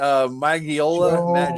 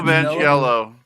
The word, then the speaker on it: Manganiello: Magiola? Joe Joe Manganiello? Manganiello.